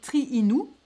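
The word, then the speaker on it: Triinu: cette cette cette cette magazine ce qui s'appelait triinou alors triinou ça s'écrit t r I i n u c'est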